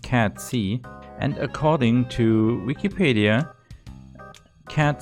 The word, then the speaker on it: Cait Sith: Cait Sith? So his name is pronounced Cat C, and according to Wikipedia, Cat C is a creature from Celtic mythology.